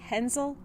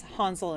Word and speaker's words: Hänsel: If you're an English speaker, you're probably thinking that that's Hansel and Gretel, but I wanted to use the original German pronunciation just so you can hear it.